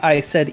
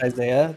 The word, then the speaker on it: Isai: You know how long I said Isai in my head before I knew it was pronounced Isaiah?